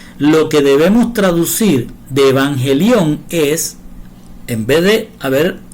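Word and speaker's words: εὐαγγέλιον: Se pronuncia evangelión y se suele traducir al español como evangelio.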